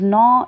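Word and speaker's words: gnaw: words and sentences so the first one is no g is silent it means achieving again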